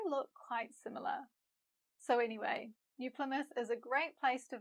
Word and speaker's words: New Plymouth: I know for some learners the TH sound, th, in New Plymouth can be a little tricky, so let me share a quick tip. To make th, you need to put your tongue between your top and bottom teeth, like this. Then blow air.